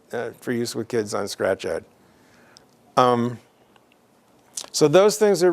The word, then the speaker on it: ScratchEd: to another website called scratch ed so it looks like scratched but it's pronounced scratch ed and that's a site